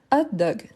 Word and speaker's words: hot dog: Ensuite, on a hot dog. Hot dog. Hot dog, donc H muet ou H aspiré. H muet ou H aspiré. Aspiré.